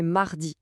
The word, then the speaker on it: mardi: La prononciation est mardi.